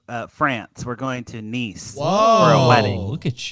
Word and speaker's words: Nice: a place called France it's it's niece it's spelled like nice nice nice yeah it's